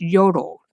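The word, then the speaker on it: Jodel: a social media app it's spelled j-o-d-e-l but it's pronounced yodel tell us how that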